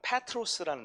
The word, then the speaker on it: 페트로스: 근데 베드로는 헬라식 발음 페트로스라는 단어거든요.